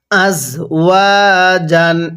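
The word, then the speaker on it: أزواج: এটা কিন্তু ঝা ঝা কে এর মত করে উচ্চারণ করতে হবে তাহলে কিভাবে পড়বো আজওয়াজ এরকম ভাবে শিখবো এরপরে হামজা সিন জবর আশ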